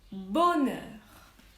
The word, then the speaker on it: bonheur: le ece ensuite le bonheur lui bonne alors ça s'écrit bon air h que je n'entends pas le huer le bonheur